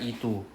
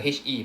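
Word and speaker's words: へ: Then we have one particle え Right, so this is the HE, but we use pronounce as E. Right, first lesson I told you 90% of the time is pronounced as just E.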